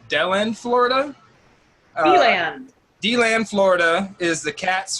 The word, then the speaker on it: DeLand: We got a special one for you guys today, all the way from, I believe it's pronounced DeLand, Florida? DeLand.